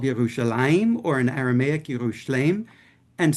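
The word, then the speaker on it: ירושלים: So in Hebrew, again, as I know most of you know, Jerusalem is called Yerushalayim, or in Aramaic, Yerushalem. And so the Arabs pronounced it that way too.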